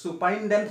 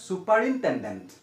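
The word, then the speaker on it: superintendent: সুপারিন্ডেন্ট হয়ে যায় টেন্ড থেকে যায় তো এটা সুপারিন্ডেন্ট না হয় সুপার ইন্টেন্ডেন্ট টি ও এম বি টম টম না হয়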